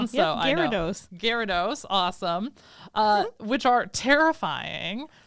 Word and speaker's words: Gyarados: how I say it I wrote out the pronunciation so Gyarados Gyarados awesome uh which are terrifying they are typically